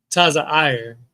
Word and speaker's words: Zoar: Therefore, the name of the city was called Zoar. Zoar. Mm-hmm. Now that name, what verse was that? 22. 22. Zoar just simply means insignificance. All right. Taza'ir is how it's pronounced, but it means insignificance.